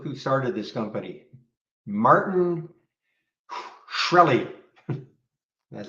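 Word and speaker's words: Shkreli: up but look who started this company martin shreli that's how you pronounce his name not that he's got probably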